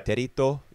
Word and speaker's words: Terito: Um, like for example, Patch and yeah, Terito, that's how they say his name. I'm just gonna say Territ.